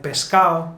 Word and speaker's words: pescado: As you already noticed, when a word ends in ado, like pescado, usually we're going to remove the D, like pescado.